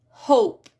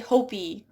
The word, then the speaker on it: hope: So for example, hope. Notice how that E at the end, that is what makes it hope and not hop. So that E, we don't say hopey, right?